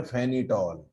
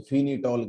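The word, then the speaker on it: phenetole: इसको बोलते हैं एनिसॉल और इसको बोलते हैं फेनिटॉल। कोई फेनिटॉल कहता है, कोई फिनिटॉल कहता है। वैसे तो करेक्ट प्रोनाउंसिएशन तो इसका फेनिटॉल ही होता है, एनिसॉल फेनिटॉल।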